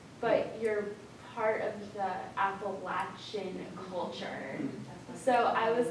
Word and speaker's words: Appalachia: Even down to like the word Appalachia, like how people pronounce it, because I've found some people who insist on saying Appalachian, Right. Appalachia, and then when you're like, no, it's Appalachia, they're like, oh, either way.